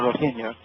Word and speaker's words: Rohingya: The Buddhists there are escalating genocidal massacres against the, how do you pronounce it, Peter? The Rohingya.